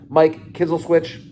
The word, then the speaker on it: Kizzleswitch: It's no longer Mikey K, it's Mike Kizzleswitch, for those looking to pronounce his name correctly, Eric Tannery, Derek Skeffington, and Kaylee.